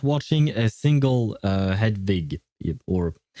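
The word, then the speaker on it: Hedwig: Uh Hadwig. Yes, you are pronouncing it right.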